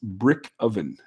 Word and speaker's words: Brykovian: Brykovian says, pronounced brick oven. Brick oven? Brick oven. Oh, okay. I get it. I would have never guessed that from the spelling that it is, but okay.